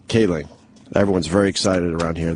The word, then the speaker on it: Kaling: Mindy Kaling. Kaling.